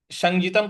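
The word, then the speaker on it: संज्ञितम्: तम जो म है उसके नीचे हलंत लगा हुआ है, तो इसका म नहीं होना चाहिए, संजितम नहीं होना चाहिए।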